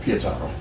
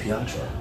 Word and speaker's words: Pietaro: How do you say it? Pietaro. Okay, see, I say Pietro. I fuck it up.